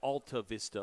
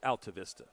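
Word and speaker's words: Altavista: that one but uh it's alav Vista High School where he's from but if you look at it it looks like altav Vista or even altta Vista if you want to add like a little Hispanic Latin flare to it which I love but everybody there says Alta Vista buav Vista is another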